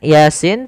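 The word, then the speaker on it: يس: yaitu huruf Sin maka cara membacanya yaitu Yasin Yasin jangan kebalik jangan Yin nah ini terbalik Kemudian pada lafal Wal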